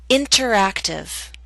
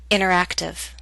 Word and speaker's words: interactive: the same prefix enter I'll first read the word with careful pronunciation you will hear the pronunciation of T then I'll repeat the word with fast andal pronunciation you will not hear the T listen carefully and try